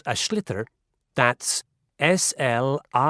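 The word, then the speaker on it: sliotar: this ball called a schlitter that's s-l-i-o-t-a-r so it's not spelled the way it's pronounced you hit ears into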